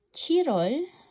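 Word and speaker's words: 칠월: Tandaan yung pronunciation ng Chirol. Chirol ay July. Shirol ay October.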